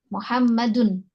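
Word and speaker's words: مُحَمَّدٌ: Kalian bacanya domah, sudah benar. Ya. Muhammadun.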